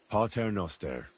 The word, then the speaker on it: Pater noster: Pater noster, qui es in celis, sanctificetur nomen tuum.